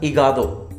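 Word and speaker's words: hígado: Liver को हम लोग बोलते हैं अल इगादो, इगादो। मैंने अभी आपको क्या बताया था, एच हमेशा साइलेंट रहता है, ठीक है, इगादो, अल इगादो, लीवर।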